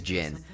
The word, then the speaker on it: Jin: Jim? His name is Jim? No, they call him Jim, but his name is Jin.